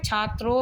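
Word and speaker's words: छात्रौ: छात्रः और द्विवचन में छात्रो हो, छात्रो ये बोला जाएगा, सही से उच्चारण करिए छात्रो, और फिर बहुवचन में छात्रा, ठीक है।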